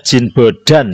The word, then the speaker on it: Jean Bodin: Ini Perancis, bacanya Jean Bodin, ya.